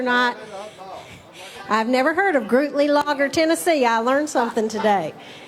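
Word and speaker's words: Gruetli-Laager: It is Grootly Lager. Grootly Lager. Sounds like a beer, don't it?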